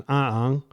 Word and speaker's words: Aang: with the Chinese characters, which is Aang, which is Mandarin, which the language is based off of. Sorry for the little pedantic aside. But like, people can complain in the comments that I'm not pronouncing the name right, but I'm pronouncing it the Mandarin way.